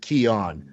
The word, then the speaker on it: Keon: of this show when your name should be pronounced kion I ask you that question